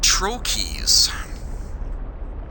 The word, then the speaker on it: trochee: In British English, it's usually pronounced Troches, but that's actually not entirely accurate, something that I learned fairly recently. The group, they are, what am I trying to say? The word is Greek in origin, and to pronounce it more accurately to the way that they do, and the proper American English pronunciation, is actually trochees. Or singular would be trochee.